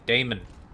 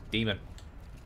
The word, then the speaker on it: daemon: heart of the daemon then stop calling it Damon I don't care how it's spelled it's pronounced demon so this is basically